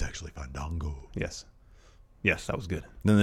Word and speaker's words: Fandango: I do like that Fandango corrected him on the pronunciation of his name. Yes. We haven't seen that in a while. I know. It's actually Fandango.